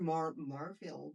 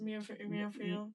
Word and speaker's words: Muirfield: I heard Moorfield Village or Moorfield. Muirfield. Instead of Moorfield. You hear Yes, and maybe the people that I live there in that area, they pronounce sometimes Moorfield Village or Moorfield. I just think Murfield sounds weird. I don't know why. Muirfield, there's an I in there.